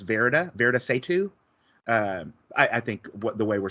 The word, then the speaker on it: Varada Sethu: I've heard her pronounce it as Varada Sethu.